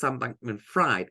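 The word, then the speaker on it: Bankman-Fried: s bank mfri but I always call him s bankman fried because that's how his name is spelled and I just think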